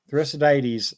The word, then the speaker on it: Thucydides: I'm not going to try to pronounce that. Help me out Spell here. the first three. Thucydides. Thucydides.